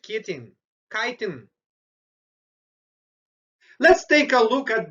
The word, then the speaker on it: chitin: cells it's made of kitten oh i mean mispronounce the word my apologies instead of say it in kitten i should have saved chitin so the fungal cells